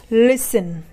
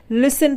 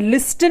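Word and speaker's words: listen: एस टी ई एन इसे हम पढ़ते हैं लिसन क्या पढ़ते हैं लिसन पढ़ते हैं लिस्टन नहीं पढ़ते यहां पर टी क्या है साइलेंट रहता है ठीक है हम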